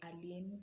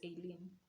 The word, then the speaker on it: Aileen: name is pronounced and the englishman will tell you it's arlene or whatever but i'm kenyan my mother named me aileen and it's alien yeah so my name